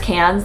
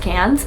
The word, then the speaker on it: Cairns: we're going to Cairns I believe it's pronounced cans that's what everyone has been telling me it's spelled cards but I think it's pronounced cans um not the one